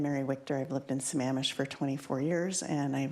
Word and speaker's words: Sammamish: It was really nice to learn that Sammamish rhymes with lavish.